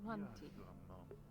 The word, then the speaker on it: Monty: Money T. You pronounce the T. Monty.